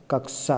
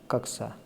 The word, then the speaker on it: कक्षा: अब कक्षा शब्द का शुद्ध उच्चारण है, तो कक्षा शब्द का शुद्ध उच्चारण क्या होगा? कक्षा होता है ना। तो ये सी वाला इसका राइट आंसर सी हो जाएगा, कक्षा।